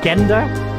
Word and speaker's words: gender: like the book gender I think it's just a hard G so it's still spelled the same but there's there's a